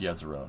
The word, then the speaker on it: Jezero: It's pronounced Jezero.